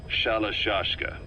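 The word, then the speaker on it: Shalashaska: Someone must have known about that because somewhere along the line, Shashka got stuck on the end of Sharashka. The gorillas were using the name amongst themselves. By the time I got to hearing about it, pronunciation had wound up as Shalashka.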